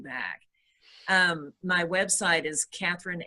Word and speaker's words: Kathryn: are holding you back um my website is Catherine ericsson com and it's spelled ka th r YN and then ericsson